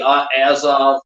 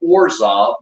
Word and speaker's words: Azov: Central Ukraine because either the Azov, they used to mispronounce them, Orzov, a few things in there.